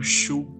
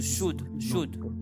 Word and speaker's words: should: You must ignore L.